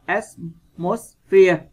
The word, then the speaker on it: atmosphere: Câu C, các bạn đọc là atmosphere, vần 1.